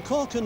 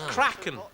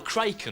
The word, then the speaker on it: kraken: did he say there crack that's not the correct pronunciation stew is it it's kraken or kraken or something surely no actually i think